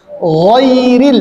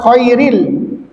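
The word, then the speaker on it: غير: gho ya ag gho ghairil giril ghairil giril ya sebagian ada yang membaca khairil harus hati-hati di situ ya kalau khairil itu adalah sesuatu yang baik ya ya khairil maknanya nanti akan jauh berbeda.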